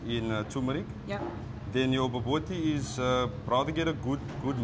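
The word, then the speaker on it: bobotie: I always say it wrong, so don't laugh at me. It's baboti? Baboti. You pronounce it boboti.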